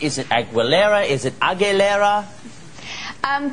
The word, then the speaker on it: Aguilera: surname correct is it agilera is it agilera um think of it as AG gou e so agilera agilera yes oh good good